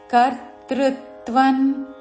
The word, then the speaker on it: కర్తృత్వం: కర్మాణి న హ్రస్వము వెంటనే కర్తృత్వన్ కర్తృ క పక్కన రా కి త వత్తు ఋస్ స్వరముతో కర్తృత్వన్ కర్తృత్వన్ అను స్వరము ఉచ్చారణ